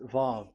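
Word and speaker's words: ו: So it's V as in Vogue. So it's really V. How to read Vogue? So the word, the shape Vav is really pronounced V, like Vogue. That is it, pronunciation. So here in this side, it's pronunciation. This is pronunciation. So according to the old Hebrew word today, those who the owner of the word, I mean, so it's a V. So don't change it into W, and you will say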